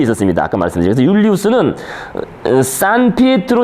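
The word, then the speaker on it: San Pietro: 그래서 율리우스는 산 피에트로 대성당, 이게 그 이탈리아식으로 발음한 거고, 아까 말한 그 성 베드로 성당입니다.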